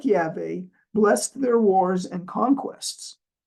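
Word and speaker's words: Yahweh: Who Art in Heaven he is known as yve sometimes mispronounced as Jehovah in the Hebrew Bible the father in the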